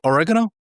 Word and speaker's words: oregano: What is it pronounced like? It's oregano. Oregano. Oregano. Duh.